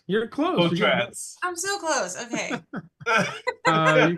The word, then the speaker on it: Potratz: Potratz. You're close. Potratz.